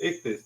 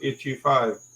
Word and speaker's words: Ichthus: Yeah, Pedro, I never forgot it's pronounced Ichthus, not Itchy5, as many people have gone about to call him.